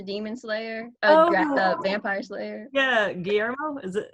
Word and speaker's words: Guillermo: who's also the demon slayer vampire slayer yeah guillermo is it guillermo thank you oh my god i love how